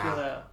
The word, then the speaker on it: Pilea: I said it for the Pilea too. How do you say it in English? Mother Pil- plant? No. Pilea. Pilea. Pilea. I mean, with an English accent. I think in Latin it's just Pilea. Pilea.